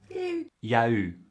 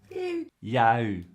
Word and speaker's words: il y a eu: your ears, but no, the written and spoken forms are simply different. Listen and repeat. Ya eu. Ya eu.